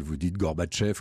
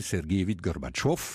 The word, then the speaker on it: Gorbatchev: le dites à l'occidentale vous dit gorbatchev comme on disait khrouchtchev voilà mais si vous le dites à la russe alors c'est mikhaïl sergueïevitch gorbatchev comme on disait rouge